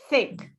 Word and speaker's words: think: can see the difference let's pronounce these two words the and think but i want you to put your hand here okay so you can feel the breath so say the the okay do you feel anything the nothing on your hand right but say think thanks do you heal yeah think yeah you should feel breath okay so for all